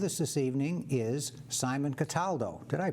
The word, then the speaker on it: Cataldo: chase and with us this evening is simon cataldo did i pronounce that correctly you pronounce it perfectly sam